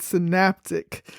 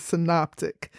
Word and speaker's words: synoptic: meaning to see together in a previous episode I mispronounced this word I pronounced it synaptic so don't be like me the proper pronunciation is synoptic and these gospels follow